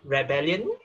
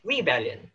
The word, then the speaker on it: rebellion: So it's not rebellion, it's rebellion.